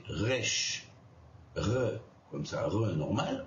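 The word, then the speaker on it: ריש: Et puis le resh va se prononcer resh, re, comme ça, re normal, ou re, vous voyez, avec roulement de la langue, voilà.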